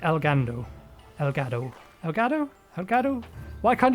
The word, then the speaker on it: Elgado: There's no R in it. Elgado.